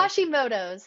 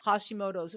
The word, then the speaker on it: Hashimoto: it like that's the hori how do you pronounce that again I'm sorry Hashimoto Hashimoto right so that whole deal has to do